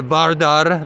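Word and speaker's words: Vardar: building there and of course next to the bardar that's how you say correctly pronounced correctly in a in Macedonia and I'm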